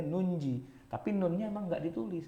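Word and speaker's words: نُنجِي: Nujil mu'minin. Tapi kita disuruh jangan baca nuji, salah, bacanya nunji.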